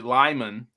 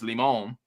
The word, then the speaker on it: Limon: And they say Lyman, but it's Limon.